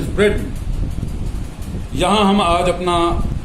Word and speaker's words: Britain: इसी तरह से ब्रिटेन ना कहें कि स्पेलिंग पे जाएं कि BRITAIN, ब्रिटेन होगा, that is नॉट ब्रिटेन, that is ब्रिटेन।